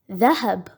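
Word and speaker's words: ذهب: In this word as well, the first two letters have fatha, and they will be pronounced as the and ha. And the letter ba has a sukoon, so it will be pronounced as b. Dhahab.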